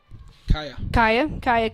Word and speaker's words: Kaija: It'll be Kaya Gibson. That's right. The J is silent.